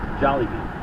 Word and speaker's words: Jollibee: How do you pronounce it? Jollibee.